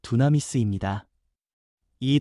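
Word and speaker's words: δύναμις: 권능이라는 말은 헬라어 발음으로 두나미스입니다.이 단어는 폭발적인 능력, 생명을 살리고 죄를 끊고 두려움을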